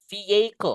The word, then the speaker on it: vehicle: Vehicle kayak gini, guys.